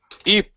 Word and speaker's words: Eep: Eep, which rhymes with sleep, after we've had a mighty feast.